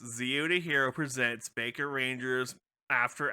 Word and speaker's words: Zeo: about it yeah yeah it's it's pronounced it's pronounced zione hero presents Baker Rangers After Hours movie discussions